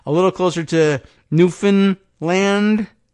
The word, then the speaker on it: Newfoundland: would have been saying Newfoundland but I guess it's a little closer to Newfoundland get it a little more emphasis on the a Newfoundland uh but I'm